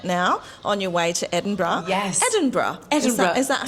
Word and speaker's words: Edinburgh: I know you're any minute now on your way to Edinburgh. Yes. Edinburgh. Is that how you say it? I feel like it's Scottish, babe. So it's like Edinburgh.